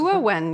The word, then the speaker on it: Gehua: This is a very nice move by Gehua, if that's how you pronounce it. Gehua, yeah.